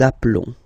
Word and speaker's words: appelons: Okay, final S doesn't exist. Nous nous appelons.